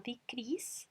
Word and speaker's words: decrease: Ese disminuyó, ahí lo ponen con el verbo decrease, todas con I, decrease. Y a pesar de que escrito termina en E, cuando yo lo pronuncio el sonido final es S.